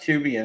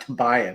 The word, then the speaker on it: Tubian: His handle is pronounced Tubian. It's not Tobian, right?